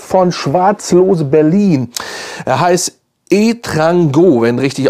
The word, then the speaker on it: Etrango: Er heißt Etrango, wenn richtig ausgesprochen.